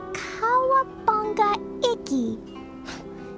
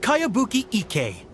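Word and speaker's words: Kayabuki Ikkei: By Kawabunga Iki. Yoimiya, this is a really strange name. Who's this Kawabunga? It's pronounced Kayabuki Ike. That would be me.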